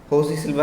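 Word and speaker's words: José Silva: so she's in Russia J is silent so although his name spelling is josc it is called as Jose silver and uh Philip uh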